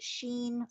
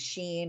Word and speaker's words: Shein: um I don't know did they pronounce it Sheen or do they pronounce it shine it's Sheen s-h-e-i-n-chi okay uh because I've